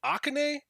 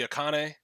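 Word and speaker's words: Akane: wait wait wait wait aan that's not how that's pronounced right like I'm not crazy it's supposed to be a cone like I'm not I'm not I'm not insane right that's how Japanese people say it that's crazy because I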